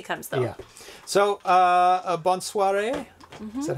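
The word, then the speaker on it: bonsoir: know hopefully Darcy comes though yeah so uh bons Suare is that how you say it bons Suare yes oh excellent good evening bons Suare everyone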